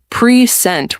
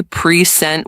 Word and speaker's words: present: But if you say precent with stress on the second syllable, it's a verb to show something. Present. Like I will present my ideas. Exactly. Same spelling, different stress, different meaning.